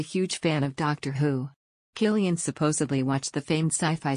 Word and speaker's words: Cillian: of his name is Killian the C is pronounced like a hard k fact three Batman Begins